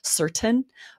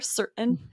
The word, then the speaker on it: certain: Depending on where a speaker is from, they might pronounce that T, certain. But often in our regional dialects, we use more of a glottal stop there, certain, and we don't pronounce the T.